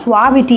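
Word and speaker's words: suavity: Actually இதை எப்படி pronounce பண்ணணும்னா சுவாவிட்டி அப்படின்னு ப்ரொனவுன்ஸ் பண்ணணும்.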